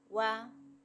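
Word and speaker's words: は: etcétera algunas partículas son waa cuando es partícula se dice Wa y no Ja partícula o no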